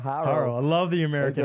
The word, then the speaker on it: Horo: I like the pronunciation of Haro. Haro.